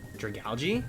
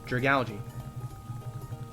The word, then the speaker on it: Dragalge: Dragalge? I mean, how do you say that? What is another way to say it? It's like algae and like dragon. It's like Dragalge.